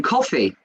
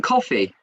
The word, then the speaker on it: Coffey: My name is Coffey, like the drink, except not spelled the same.